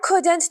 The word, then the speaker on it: couldn't: shouldn't for example I couldn't talk right now you couldn't come you shouldn't eat so much food you shouldn't do it but they don't say couldn't and shouldn't they remove the D